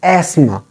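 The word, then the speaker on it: asthma: but it is not EST it is is Asma Asma th H is silent here the sound of T is silent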